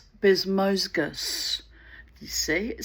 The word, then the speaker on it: Bezmozgis: What was I calling him? Bezmozgi? I had no idea how to pronounce his name. Bezmozgi, I was giving him some kind of weird Russian, Turkish inflection. I've no idea where his name comes from. Um but anyway, it's a Bezmozgis. Bezmozgis.